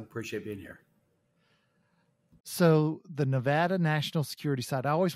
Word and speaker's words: Nevada: for nnsa out at the Nevada Nevada I mispronounced it and said Nevada but it's the Nevada National Security Site for three decades and he